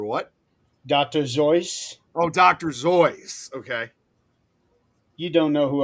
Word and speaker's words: Seuss: It's actually pronounced Dr. Zoyce. I'm gonna put a note in my phone that says Dr. Zoyce / Seuss, and I'll find it